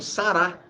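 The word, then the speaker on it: Sarah: Quando a pessoa põe Sara com H no final, está falando Sará.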